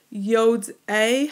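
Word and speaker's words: יֹדְעֵי: And notice it has that A ending that rhymes with Binet.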